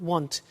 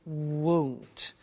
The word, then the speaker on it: won't: Be careful with the pronunciation. It's not want, it's won't. So the example is, I won't buy it.